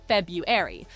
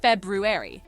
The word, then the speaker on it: February: Some people say February, but the right way is February. It might sound tricky, but just think of roo like a kangaroo hopping in the middle of the word.